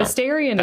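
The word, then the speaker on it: Astarion: So she's Asterion. So she's asking. Asterion. Did I say it right? Asterion Akunin? Is that how you say it? No, I don't think you said it right, but okay. Well, Asterion is right.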